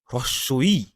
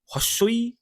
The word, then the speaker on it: হ্রস্ব ই: হস্যি বা দীর্ঘি বলে আমাদের বাংলাতে কোনো শব্দ বা উচ্চারণ হয় না। কি হবে? বয়ে হ্রস্বই, এই যে উচ্চারণটা দেখুন এখানে, এই উচ্চারণটা কিন্তু হবে অ্যাকচুয়ালি হস্যই।